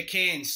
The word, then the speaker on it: Cairns: It's Cairns, so, right? Is that how it's pronounced? Yeah, Cairns.